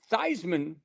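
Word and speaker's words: Theismann: Um, but yeah, they ch he they Roger said, "Hey, Thyman rhymes with Heisman and let's take a look and see.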